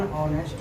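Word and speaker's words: honest: क्या होगा, अब बताओ इसमें वॉवेल है, इसका तो पहला अक्षर एच है, यहाँ एच है ही नहीं, तो क्यों लगाए, उच्चारण को देख करके ये कंफर्म हो जाना है।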